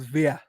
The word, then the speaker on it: Gabri Vega: That Newcastle are very close to signing young Spanish midfielder Gabri Vega, or apparently it's pronounced Vea, but we'll just say Vega because it's Yeah, we'll say easier.